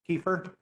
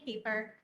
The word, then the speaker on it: Kiefer: pronounce it correctly kiefer you have five minutes thank you you did pronounce it correctly good afternoon my name is keeper some of you may